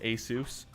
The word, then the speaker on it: Asus: say there ti cards is a company actually pronounces it tie just like Asus is a soos yeah and let if you ever add a